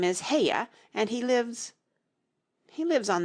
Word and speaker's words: Haigha: happy his name is haigha he pronounced it so as to rhyme with Mayor I love my love